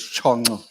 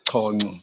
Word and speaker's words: Chongo: Chongo, but they say the correct pronunciation is Chongo. I'm not sure. I used to I thought it's Chongo, but it's misspelled.